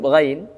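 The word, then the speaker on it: غين: Huruf ghain di beberapa kaum muslimin, di antara kesalahan dalam membaca huruf ghain adalah dengan menahan, ya, dengan menahan, ga, gi, gu. Itu tidak benar, karena huruf ghain, ya, cara pengucapannya adalah dengan tidak ada suara yang tertahan. Dia plong, lepas, ya. Dan juga huruf ghain bukan dengan nafas. Ra, ri, ru. Tidak. Dia tidak dengan nafas.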